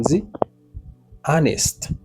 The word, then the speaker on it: honest: Honest. Honest. Vous avez déjà me dire honest. H n'est pas prononcé, ça veut dire H non muet.